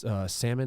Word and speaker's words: Salmon: we had one dude salmon is how you pronounce his last name yeah it's just like the fish yeah salmon he had three bombs